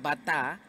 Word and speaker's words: batá: nombre de nosotros es batá, signo de admiración, y después TA con una tilde, para que la persona en inglés la pueda pronunciar batá, en vez de Beira, y por eso pues salió el nombre.